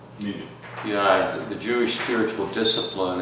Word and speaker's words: Minyan: How do you pronounce that? That's correct. Minor? Minyan. Minyan.